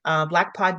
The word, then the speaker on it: BLKPOD: Ooh, It's spelled BLKPOD News, Black Pod News, and under the issue of Northern Voices.